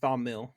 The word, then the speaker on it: Thil: Tom yeah but then he goes through like this thing of how to pronounce it with the the th sound yeah it's th thil so but we're gonna call him thil well you can say thill thill it just sounds like a thumb I don't know if